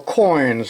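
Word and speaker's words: quoin: under pressure with what we call coins spelled with a Q there's a coin right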